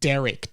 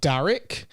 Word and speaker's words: Derek: I am saying Derek, D-E. It's not Darrick.